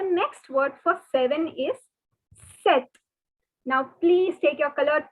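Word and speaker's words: sept: word for seven is set now please take your colored pen and note that the p is silent so the pronunciation is set set so ah through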